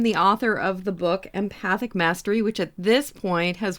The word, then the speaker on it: Empathic Mastery: Some people call it Empathetic Mastery, but it is Empathic Mastery, so you got it.